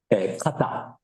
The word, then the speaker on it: koto: and at that time, there was a very different pronunciation of the word koto. So at that time, they pronunciated this word as kata. So not koto, but kata.